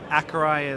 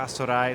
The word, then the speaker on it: Accurai: So we have a few different pronunciations around the world at this point. Accurai is sort of what I say. The French go for Accurai, the Brazilians go for Assurai, so pick your...